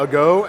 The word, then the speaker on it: ago: they're building it as this is called the ago and that's uh translated from Italian means needle so it's not like a long time ago the English word uh even though it is spelled the same blade here is a